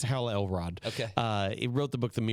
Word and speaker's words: Hal Elrod: It's Hal Elrod.